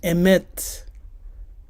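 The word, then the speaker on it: אמת: The biblical Hebrew emet. Emet, which is MT, because the aleph is silent.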